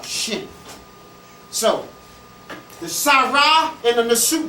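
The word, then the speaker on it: shen: cartouche a french name it's a shin s-h-n or if you can put a little e in there if you can't pronounce it a shin so the sarah and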